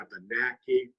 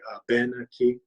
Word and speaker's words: Abenaki: within the language because we stress the third syllable from the end of the word so rather than saying Abenaki hear people say up in a key both are just fine